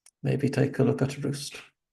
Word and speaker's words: Rust: take a look at Roost or rust as it's more commonly pronounced Margot I have a